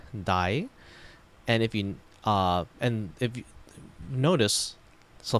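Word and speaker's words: 大: It is pronounced dai, like daigaku.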